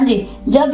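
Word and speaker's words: judge: जैसे जज, जज, डी जी ई, इसे जड ज नहीं हमने कहा, इसने कहना है जीम की आवाज देगा, जज। यहाँ पे ये जीम की आवाज दे रहा है लेकिन इसमें डी जो है वो साइलेंट होगा, ठीक है।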